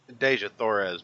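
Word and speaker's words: Dejah Thoris: Deja Thoris, but it actually opens up in the middle of a Deja.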